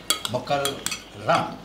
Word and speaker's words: মোকাররম: মোকাররম ভাই, আমি একদম ভুল উচ্চারণ সহ্য করতে পারি না। উচ্চারণটা হবে মক্কার রাম, রয়ের নিচে র। আচ্ছা ঠিক আছে ঠিক আছে। মোকাররম ভাই।